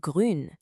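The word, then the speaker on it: grün: Then we have grun. Now for this one, shape your lips like you're saying ooh but then try to smile. Grun. You'll feel it.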